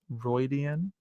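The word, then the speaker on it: Rhuidean: We also know Rand is getting visions at this Aiel ruin called Roidian, right?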